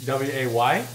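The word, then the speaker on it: Ouai: I would normally spell Way W-A-Y, but this is spelled O-U-A-I, Way.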